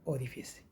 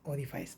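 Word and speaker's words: orifice: होता है हमारे प्लांट में ओरिफाइस होता है ओरिफिस ओरिफिस ओफिस ओरिफाइस नहीं डेबरी नहीं डेबरी डेबरी डबरी प्लान में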